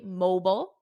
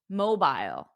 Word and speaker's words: mobile: I said this because in American English we say mobile mobile mobile but in British English mobile mobile so if you hear someone say mobile and someone else say mobile just know that both pronunciations are correct one is American Mobile